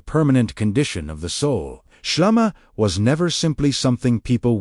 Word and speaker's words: shlama: One of those remarkable words is shlama, pronounced shlama.